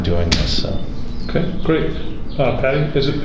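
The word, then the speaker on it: Patte: Patty, is it Patty?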